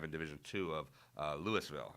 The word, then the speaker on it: Louisville: Then beat Garen Lotzenhauser, who's ranked number 5 in Division II of Louisville, I believe is how we pronounce it in Ohio. Louisville, Ohio. Right. Not Louisville like in Kentucky.